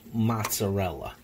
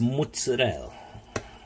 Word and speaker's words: mozzarella: mozzarella by the way it's not pronounced mozzarella it's mutts Adele you understand you hear